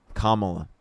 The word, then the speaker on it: Kamala: Kamla.